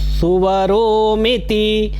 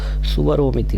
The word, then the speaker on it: स्वरोमिति: ऐं अस्त्राय फट्, भूर्भुवः सुवरोमिति दिग्बन्धः, भूर्भुवः सुवरो, सुवरोमिति नहीं, भूर्भुवः और स्वरोमिति होगा, स्वरोमिति, स्वरोमिति दिग्बंधः मतलब ये भूर्भुवः स्व, इससे आपने अपनी दिशाओं का बंधन किया, दिग्बंधन किया।